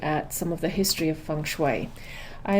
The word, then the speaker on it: Feng Shui: and say you know tell me about fanguy and I know that's what it's looked like it looks like but it's actually funu it's known as the